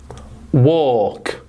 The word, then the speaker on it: walk: Right, 3 sounds, w, or, k, walk. Do you see an L there? No. So it's a silent L. We know it's a silent L, but look at the phonetic transcription.